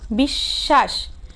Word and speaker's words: বিশ্বাস: শব্দের মধ্যে বা শেষে ব ফলা যুক্ত হলে যুক্ত ব্যঞ্জনটির দ্বিত্ব উচ্চারণ হয়, মানে এটা কি হয় দুইবার উচ্চারণ হয়। যেমন বিশ্বাস, দেখো আমি এখানে বিশ্বাস লিখেছি কিভাবে, বরস্কের বি, তালিবাস্য, তালিবস্বয় আকার, দন্তস্য। তাহলে এখানে ব ফলা উচ্চারণটি কিন্তু হয়নি, এখানে তালিবস্য কি হয়েছে দুইবার উচ্চারিত হয়েছে।